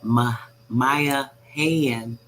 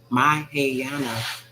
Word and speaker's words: Mahayana: in Japan were also Hindu Buddhists, or the Mahayani. I'm still saying it wrong. Mahayana Buddhist, whereas all Black history.